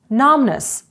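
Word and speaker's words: numbness: from Cold від холоду numness оніміння літера B не вимовляється num онімілий наприклад num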